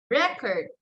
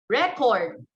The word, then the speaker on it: record: In noun, the stress there is on the first syllable. So let's try. Present, permit, subject, rebel, record.